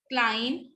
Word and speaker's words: climb: तो that's why यू can speak it again: thumb, bomb, com, climb, tomb, debt, and doubt. Okay, next is D. D is silent in the spelling sequence DJ.